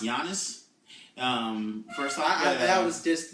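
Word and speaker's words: Giannis: pointy honest its beloved it's pronounced yiannis first time that was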